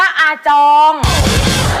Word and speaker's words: อาจอง: จริง ๆ นะ คะ อ่าน ว่า อาจอง อา จอง น้อง ของ พ่อ อุ้ย